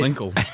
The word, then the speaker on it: Linkle: That was a I- Linkle. It rhymes with tinkle.